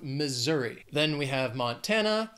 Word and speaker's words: Montana: Then we have Montana. Three syllables, stresses on that second syllable. Montana. Montana.